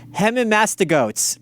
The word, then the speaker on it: Hemimastigotes: Hemimastigotes. That's how it's pronounced.